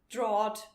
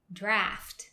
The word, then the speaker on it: draught: And I would say, I would like a nice cold draught beer, please. That's not correct. Of course, it looks like that. It looks like that. But this weirdly spelled word is pronounced draft.